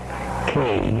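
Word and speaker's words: Kaye: norteamericano llamado, un momentito, Mr. Calle, K-A-Y-E. Ese es. El nombre completo de él es Conrad Kay, lo pronuncian Kay.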